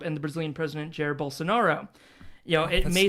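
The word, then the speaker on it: Bolsonaro: because now I know how to say the word Bolsinaro. Sorry. I've read it many times. I'm like, "Oh, he's fascist." Bonero. Bonero. There we go. Balls so narrow.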